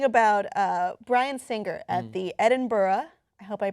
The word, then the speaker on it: Edinburgh: We are talking about Bryan Singer at the Edinburgh. I hope I pronounced it correctly.